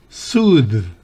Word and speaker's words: soothe: To soothe, soothe. No es soothe, no es soothe, sino soothe, soothe, no D, no la D labio dental, sino la D interdental.